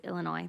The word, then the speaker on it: Illinois: First off, it's Illinois. The S is silent.